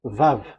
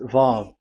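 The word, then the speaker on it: ו: So it's V as in Vogue. So it's really V. How to read Vogue? So the word, the shape Vav is really pronounced V, like Vogue. That is it, pronunciation. So here in this side, it's pronunciation. This is pronunciation. So according to the old Hebrew word today, those who, the owner of the words, I mean, so it's a V. So don't change it into W.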